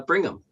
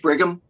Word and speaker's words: Bigham: Uh we'll now hear from uh uh Bringham. Miss Breton, is Bringham here? Yes, she's coming in right now. And I think I'm mispronouncing your last name. Uh Bigham.